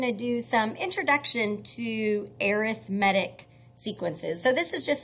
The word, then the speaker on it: arithmetic: incorrectly but it's an adjective so it is pronounced arithmetic arithmetic so arithmetic sequence so I don't know if